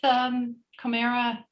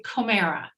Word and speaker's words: Komera: Comera. Comera, Yeah.